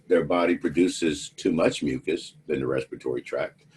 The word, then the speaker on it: mucous: to the two terms, mucus and mucus. They're pronounced exactly the same, but you see they're spelled differently.